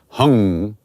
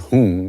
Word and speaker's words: hum: Beach Mantra is hum sometimes it's pronounced hung not whom that's something else although